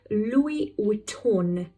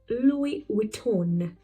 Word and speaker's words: Louis Vuitton: We are pronouncing N in Von. So it is Louis Vuitton. Louis Vuitton.